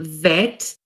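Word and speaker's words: בית: to point out that some of the letters in hebrew have um can have two sounds for example bed can be vet cast can be half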